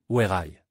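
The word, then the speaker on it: WEY: En Chine, le nom de la marque se prononce exactement comme Wai.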